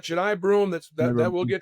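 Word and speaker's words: Johni Broome: It's Broom, Juny Broom, and uh I'm saying his name wrong. I think Junai Broom. Yeah, we've got we've got Jai Broom.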